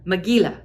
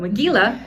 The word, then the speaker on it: Megillah: I don't know how to say that exactly, Megillah? Is that how you say that? Helen, tell me how to say that. Megillah, thank you. I'm sure I've butchered so many words, but Megillah, I now know is the right way.